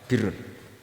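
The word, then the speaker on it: برّ: Ya kalau di isim fa'ilnya umumnya guru-guru kita baca barin, tapi untuk masdarnya untuk kebaikan bacanya apa? Birrun. Nanti kamu protes, oh barun itu daratan Gus, kalau birun itu kebaikan.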